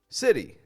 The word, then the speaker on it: city: talking about first off city data better butter notice how all four of those words have that super quick kind of t- sound city data better butter